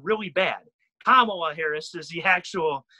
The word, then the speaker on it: Kamala Harris: like if somebody says the vice presidential candidate camel or kamala harris that's going to sound really bad kamala harris is the actual name of the the democrats